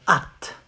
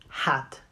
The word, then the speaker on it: hâte: You say, j'ai hâte. J'ai hâte. Not hat. The H is silent.